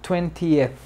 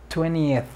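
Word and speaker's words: twenty: hasta llegar a 20 algunas personas lo pronunciarán 20 pero ya casi no se usa se omite completamente la t 20 20 como las películas 20th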